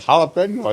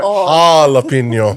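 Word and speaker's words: jalapeño: This is like jalapeno, I think. Oh, there we go. Ah, yeah. Jalapeno. No, but Yeah, not jalapeno. yeah, not the ja, the ha. The J is silent on that.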